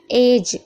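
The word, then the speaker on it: edge: फ्रिज, यहाँ पर भी देखिए डी के बाद जी है तो डी साइलेंट है, या फिर कैसे भी देखिए आपको समझ में आना चाहिए। एज, एज में किनारा होता है, ये भी याद रखिएगा।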